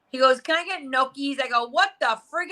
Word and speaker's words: gnocchi: After I spent 10 minutes telling you how to say it, you're still walking around saying you love gnocchis.